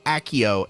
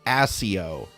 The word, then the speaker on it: Accio: summoning charm they said Akio and it's not pronounced accio it's pronounced assio so I was not